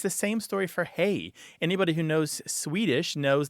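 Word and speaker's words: hej: And it's the same story for hey. Anybody who knows Swedish knows that hey is a fairly standard greeting in Swedish, H-E-J. And it looks a lot like our hey and it sounds like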